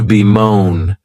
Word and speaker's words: bemoan: next verb is to be moan and this verb has two syllables and the stress is on that second syllable you may also notice